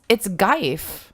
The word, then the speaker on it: GIF: It's not pronounced graph. Oh, don't even. Oh, no, it's Geif.